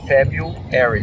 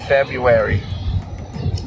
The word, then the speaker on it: February: Sim, tem um R, mas a gente não pronuncia. Na verdade, essa palavra tem duas pronúncias. Pode pronunciar com R ou sem. Sem o R é mais comum, tá? February, February.